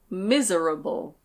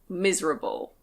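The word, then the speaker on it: miserable: Next we have "mis-e-ra-ble". Mis-e-ra-ble. You can say it that way, but we usually say "mis-ra-ble". Mis-ra-ble.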